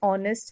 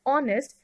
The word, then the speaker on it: honest: Example, he is an honest man. So in this sentence, adjective honest begins with the vowel sound o and not the h is silent.